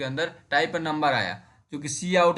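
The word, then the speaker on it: cout: आउट है ना, तो इसको सी आउट ही प्रिंट कर वो प्रोनाउंस करते हैं, सी आउट।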